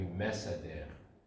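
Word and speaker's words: מְסַדֵּר: It's gonna be mesader. Again with the schwa, but you always pronounce it as e.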